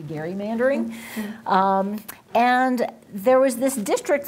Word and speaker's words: gerrymandering: of massachusetts elbridge gary so if we were pronouncing things correctly it should really be gary mandering and there was this